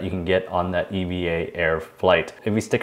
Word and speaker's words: EVA: world according to Condon ass and yes it's pronounced Eva not Eva Airways video I'm going to walk you through